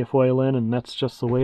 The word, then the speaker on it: Faolan: name it meant Little Wolf the actual proper pronunciation is Foon but I was pronouncing it foin and that's just the way it's going to